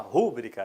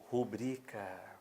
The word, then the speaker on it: rubrica: Frequentemente, escutamos assim, ó, faça uma rúbrica, lembra? Dê a sua rúbrica. Pessoal, tá errado. O certo é rubrica. Faça uma rubrica.